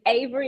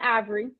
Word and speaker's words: Ahvery: spelled just like that it's Avery it's not ivory um my mom has an H in her name she put